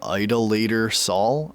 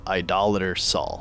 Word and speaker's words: Idol Saul: And yeah, uh I was saying his name Idolator Saul. I don't know. In the video they pronounced it Idol Saul, so I'm going with that.